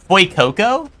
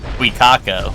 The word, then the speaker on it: Fuecoco: Fuecoco?